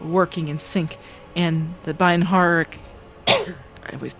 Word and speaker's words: binharic: in sync and the binharic I always like I mispronounced that clamor makes a symphony of reports which the malos coordinates like a skillful conductor. Yeah, just baric. The h is silent. Binaric.